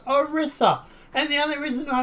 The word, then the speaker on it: Orisa: us yet another new character and it is pronounced orissa and the only reason I know how to